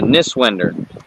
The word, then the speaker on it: Niswender: It's uh Niswender. Okay. So, the way it's spelled.